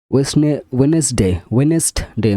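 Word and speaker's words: Wednesday: হ্যান্ডকাচিপ মানে রুমাল, ওয়েনেসডে মানে বুধবার, গ্র্যান্ডফাদার মানে দাদু, স্যান্ডউইচ মানে স্যান্ডউইচ, এটা আমি জানি না, তোমরা জানিও জানলে। ইগল মানে এজ, ইডিজি এজ, এখানে সব ডি হচ্ছে সাইলেন্ট লেটার, ঠিক আছে।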